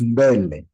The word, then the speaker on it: mbele: Yeah, you're always doing an M as a separate, but you need to pronounce it as mba, mbe, mba. Bele. Mbe, so it becomes mbele.